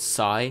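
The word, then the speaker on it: Psi: say, but it's a villain called Psy. You spell it P-S-I, and this villain has been spotted on the set.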